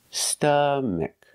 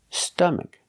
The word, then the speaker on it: stomach: St St stomach stomach put the stress on the first syllable stomach stomach a closed sound uh uh stomach example